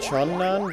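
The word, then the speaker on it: Chun-nan: have here no i'm pretty sure it's pronounced chun nan but i i'm just so used to saying tunan at up to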